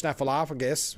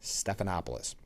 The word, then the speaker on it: Stephanopoulos: Mike Johnson trading barbs with George Snalophagus. Oh, I knew it. I got to get back in the habit of saying it right. Not Snuffalophagus. George Stephanopoulos.